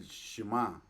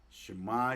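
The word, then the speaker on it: שמע: José María chem pero realmente en hebreo es el shim shim verdad shim Israel adonay elino Sí hay una e pero es bastante reducida Entonces no se pronuncia así como tan fuerte como como le haríamos en español Entonces es una e para que se acuerde que laeva es una e pero bien cortita Okay entonces vamos a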